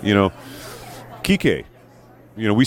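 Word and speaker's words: Kiké: to say you know key K you know we say key K right but his name is actually key K because he's got right accent on the the final leave but nobody says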